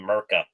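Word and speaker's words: Mrtka: top defensive prospects Radam Murka hope I'm saying his last name right. I've been saying Murka like the T is silent this whole time.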